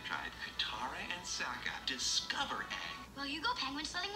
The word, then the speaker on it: Aang: powerful, multi-element controlling kid Ong? It's Aang. Ong? I'm saying Aang. I'm hearing Ong. How are you hearing Aang? It's Aang, not Ong, and don't you Don't you dare pronounce it like that.